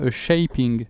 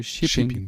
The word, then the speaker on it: shipping: courante qu'on entend souvent pareil pour shipping donc un envoi shipping il y a de P et c'est pas shaping c'est shipping parce que il y a deux P par contre sil y